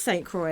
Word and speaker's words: St. Croix: It is St. Croix.